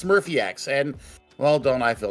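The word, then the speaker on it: SmurfyX: the the dude's name it's smurphy X not smurphy X or Z Murphy ex or whatever we have butchered all over these years we finally know how to say it it's Smurfy X and well don't I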